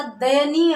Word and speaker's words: दयनीय: देखिए यहां पर ये अलग सा शब्द बनेगा, दया का दय हो जाएगा, और आगे क्या होगा? नीय। ये उच्चारण की शुद्धता के लिए परिवर्तन इस प्रकार से किया जाता है। दया जोड़ नीय का दयनीय हो जाता है, दयनीय नहीं होगा।